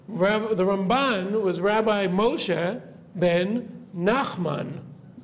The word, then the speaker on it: Ramban: When we say Ramban, we always put the stress on the second syllable, right?